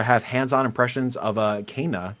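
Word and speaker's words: Kena: This week, we're going to have hands-on impressions of Kana, which is how you say that game now. Kana, Bridge of Spirits.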